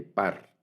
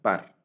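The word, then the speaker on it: פר: Esta palabra hebrea se lee par, así suena, par.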